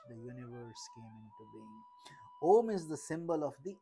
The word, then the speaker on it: Om: as of the individual when om is pronounced a merges into U and it becomes o this symbol of the